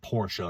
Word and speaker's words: Porsche: Porsche, or Porsche if you want to use the German pronunciation.